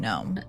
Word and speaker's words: Nome: Gnome is actually closer to Russia than to Anchorage, Alaska's largest city. And it's not for nothing that Gnome's very name forms the first syllables of no man's land.